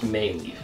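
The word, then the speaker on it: Mei Leaf: I think it's pronounced Mayleaf. M-E-I Leaf.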